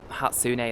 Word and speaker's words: Hatsune: Oh, so is the Hatsune, that's how you say it.